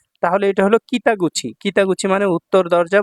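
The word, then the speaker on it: 北口: Gate হিসেবে কুচি উচ্চারণ হয় নাই। গুচি উচ্চারণ হইছে। তাহলে এটা হলো কিতাগুচি।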